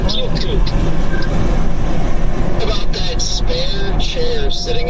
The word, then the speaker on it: Keokuk: I think the word you were looking for was Keokuk. Trying to figure out how to pronounce that place yesterday. Keokuk. Yeah, I was saying Keokuk.